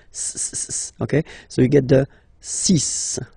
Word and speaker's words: six: so you get the sis pronunciation sis s okay so it's not six it's sis all right then here